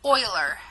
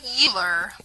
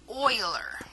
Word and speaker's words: Euler: diagrams make a note his name is pronounced Oiler not youer but Oiler so I want to